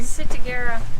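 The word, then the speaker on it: ciguatera: How do you pronounce that disease, Sandy? Sitagera.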